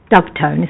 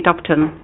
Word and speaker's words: Dubton: It's Dubetton, isn't it? Dubton. Dubton.